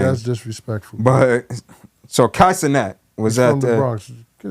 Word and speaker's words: Kai Cenat: Kai Cenat. He's from the Bronx. Get it right. Okay. Get the name right. Kai Cenat.